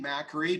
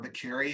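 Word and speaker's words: Makary: so that is Marty mackery Dr Marty mackery or McCary has said as I think he pronounces it he's been one of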